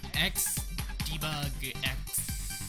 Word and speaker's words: xDebugx: It's by X Debug X. I'm pretty sure it's just Debug Games. The X is silent.